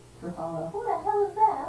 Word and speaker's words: Ruffalo: Huh, I've been saying his name wrong. Ruffalo.